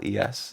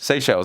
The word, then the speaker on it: Seychelles: How do you pronounce it? It's Seychelles. Oh, Seychelles. Seychelles, that's how you pronounce it.